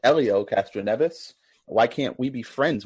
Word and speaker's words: Helio Castroneves: How do you pronounce that again, Scott? Say it again. Julio Castroneves? I think it's Elio. All right. Both teams checked in with Elio Castroneves, and both teams are receiving points.